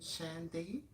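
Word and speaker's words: Shandai: byers jerry johnson and shaniqua how do you pronounce that last name sandy um shandy oh okay episode one oh i wrote down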